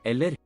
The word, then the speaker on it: eller: Ella, Eller. Oh, it's LA. Okay, let me say it right. Eller.